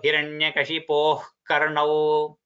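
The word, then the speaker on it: हिरण्यकशिपोः कर्णौ: Englishல it should be pronounced like the letter H in English. So Hiranyakashipo Karnau, just the wind should just come out of your throat, that's all.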